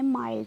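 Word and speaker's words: mild: को हम आई पढ़ेंगे आई के बाद अगर एंडडी या आईडी आए तो ठीक है एंडडी या आईडी आए तो जैसे मिल्क मिल माइल्ड माइल्ड सॉरी मिल्क बोला मैंने माइल्ड है सॉरी बोलने में हो जाती है मिस्टेक बट आप लोग समझदार हो इतने बच्चे भी नहीं होंगे जैसे माइल्ड है माइल्ड माइल्ड आई ना आई की साउंड आई ना माइल्ड चा काइंड आई ना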